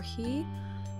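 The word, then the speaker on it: 日: Okay, so this character can be pronounced be or he, and it means day, so while we're talking about the days of the week, you'll actually see this quite often.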